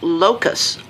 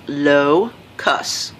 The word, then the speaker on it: locus: of the way first it's pronounced locus low cuss see when you see